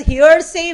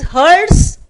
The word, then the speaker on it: hearse: So we are saying that is hearse van, where people pronounce it as hearsay van. It is hearse van.